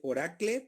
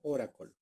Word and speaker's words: Oracle: Aquí dice Oracle, pero se pronuncia como Oracle.